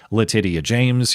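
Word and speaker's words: Letitia: they brought charges against New York Attorney General Letyia James. Yes, that's how you pronounce her name.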